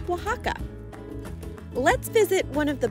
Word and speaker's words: Oaxaca: Spaniard conquered the region the word was transliterated to a more common Spanish pronunciation known as Waka let's visit one of